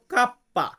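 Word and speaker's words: kappa: যে এরপর আছে কে এটাকে আমরা ইতালিতে বলবো কাপ্পা কাপ্পা মানে হচ্ছে কে এল এল এটাকে আমরা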